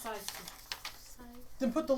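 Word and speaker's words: Syksy: It's pronounced Saiski.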